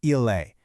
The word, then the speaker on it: il: For he is, it's ille. For she is, it's a slightly softer la. It's a really subtle difference, but it's an important one.